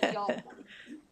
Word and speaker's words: Haltman: Um, um, forgive me, your last name is pronounced Haltman. So, I tell everybody we say y'all in Texas. So, it's Yman with a T. Yman.